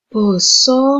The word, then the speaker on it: Basa: Kalau dalam bahasa Jawa, pengucapannya bukan bahasa, tapi menjadi Basa Ngoko Lugu.